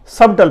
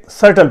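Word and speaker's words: subtle: اسے اکثر احباب سبٹل پڑھتے ہیں, لیکن یہ سبٹل نہیں ہے, اسے سرٹل پڑھتے ہیں. ٹھیک ہے, سرٹل, ایس اے سا ٹی اے ایل, سرٹل. سبٹل نہیں پڑھنا, سرٹل.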